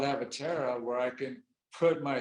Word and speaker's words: Avatara: pronounce the name of that company again and spell it avatara a-v-a-t-a-r-a okay avatara they're going to be on